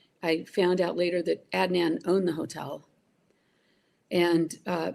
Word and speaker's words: Adnan: Is it Adnan? Is that how we pronounce his name? Adnan.